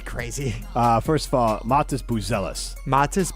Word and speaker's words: Buzelis: First of all, Matas Buzelis. Matas Buzelis. Boozealous is how you pronounce it.